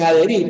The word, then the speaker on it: adherir: su propia sílaba en la H no cuenta en adherir por supuesto yerm si